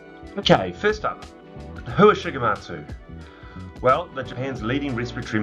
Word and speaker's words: Shigematsu: Okay, first up, who is Shigematsu? Well, they're Japan's leading respiratory manufacturer. They've been in operation for over 105 years. If you're having trouble with the name, it's pronounced Shigematsu, or STS for short.